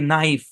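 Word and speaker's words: knife: যাবে যেমন দেখেন উদাহরণ কে এন আই এফ ই উচ্চারণ কি ভাই কে এটা সাইলেন্ট চোখ বন্ধ করে সাইলেন্ট করে দেন কে এন আছে কে সাইলেন্ট তাহলে উচ্চারণ হবে এতটুকুর তাহলে এতটুকুর উচ্চারণ কি সেকশন থ্রি এর পড়া আই এর পরে কনসোনেন্ট শেষে ই থাকলে আই লং সাউন্ড দেয় নাকি তাহলে উচ্চারণ কি নাইফ কে তো সাইলেন্টই তাহলে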